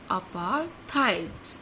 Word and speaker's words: apartheid: This is अपार्थाइड. अपार्थाइड. आर is silent.